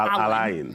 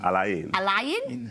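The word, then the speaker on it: Al Ain: And then after that, we'll play Alin. Not Alan. Not Alan. Alain. Is it A-I-N? A-I-N. Alain, yeah.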